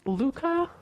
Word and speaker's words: Lucas: Okay, and then we meet Isaac, who is Lucas in Skam France. I don't know what to call him. Luca or Lucas? Because they say Luca, like the S is silent, right?